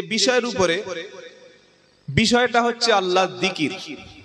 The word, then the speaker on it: জিকির: উপরে, বিষয়টা হচ্ছে আল্লাহর জিকির। কি নাম বললাম? জিকির। জাল, কাফ, র, তিনটি অক্ষরে একটা শব্দ জিকির। বাংলায় থেকে হলে হবে অন্ত্যেজ্য হস্যই, কয়হাস্যই, র, জিকির। এটা বাংলায় আরবির উচ্চারণ, আর অর্থ হলো আল্লাহর স্মরণ।